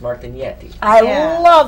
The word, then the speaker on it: Martinetti: Well, if you're a purist, Martinetti.